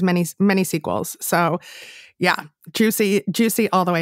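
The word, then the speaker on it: Giusy: So yeah, juicy all the way. And it's Juicy, G-I-U-S-Y, pronounced Juicy.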